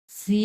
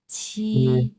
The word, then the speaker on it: 是: 我们是不是 সি না, এটা সি না, এটা হচ্ছে ছি।